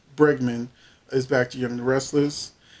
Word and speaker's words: Bregman: for how long but tracy bergman i'm sorry tracy bergman who plays lauren uh finn moore baldwin will be back to the show so i got her name wrong but tracy berg um bregman is back to young